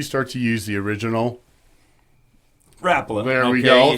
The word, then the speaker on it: Rapala: And that's where you start to use the original Rapala.